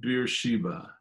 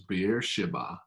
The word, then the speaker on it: Beersheba: we read jacob left beersheba which you know we say beer sheba which i think the pronunciation correctly is beer shiba jacob left beersheba and